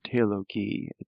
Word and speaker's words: Theologie: Yeah, this G is always a hard G, so Theologie, it's always a hard G there.